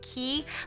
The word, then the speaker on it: Quay: from the Australian sunglass company called key but it's spelled like Quay quu a y I'm sure a lot